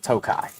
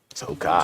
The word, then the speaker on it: Tokaji: But if you want to seem like you know what you're talking about and you see the word Tokaji, J's not pronounced, Tokai. Tokai.